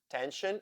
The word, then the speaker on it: tension: So, sion and tion as shen in words tension and station.